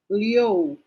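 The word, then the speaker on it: liù: okay and i you i you is pronounced as yo so we just add the sound of l in front so how do you think that one is pronounced leo good then it's fourth intonation so parang galette that is leo good that is number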